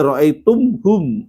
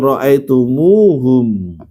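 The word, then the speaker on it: رأيتموهم: Jadi nggak boleh ro'aitum hum, ro'aitumuhum. Bukan cuma dihidupkan, tapi dia harus ditambah wawu, ro'aitumuhum.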